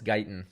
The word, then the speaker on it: Guyton: can look at uh is it guyton is that how you pronounce his name i think yes it's not guitar and it's guyton um he always you